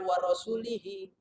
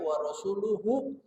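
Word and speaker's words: وَرَسُولُهُ: Kata Sayyidina Umar, bukan wa rasulihi, bacanya wa rasuluhu.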